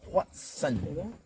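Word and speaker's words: hoatzin: H-O-A-T-Z-I-N. Watson. Like a Dr. Watson.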